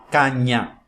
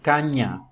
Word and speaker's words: caña: se llama letra N, que em espanhol suena nasal, como se corresponderia ao NH do português. Niño, caña.